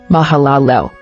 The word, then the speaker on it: Mahalalel: mahalalel origin Hebrew Mahalia meaning Praise of God pronunciation mahalalel Bible verse Genesis 5:12 ESV Mahal Liv 6